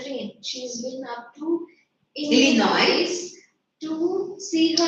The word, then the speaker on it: Illinois: She's been up to Illinois. to see her S is silent there, Illinois.